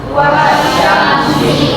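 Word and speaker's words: والشمس: Wasyamsi.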